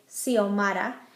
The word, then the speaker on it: Xiomara: It can sound like an S, like in the name Xiomara.